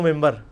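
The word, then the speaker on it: منبر: ہوئی ہے، محراب و ممبر. ممبر کے سپیلنگ کیا ہے؟ من بر، لیکن پڑھا کیا جاتا ہے؟ کیوں؟ کیونکہ نون کے بعد، نون ساکن کے بعد بار ہے.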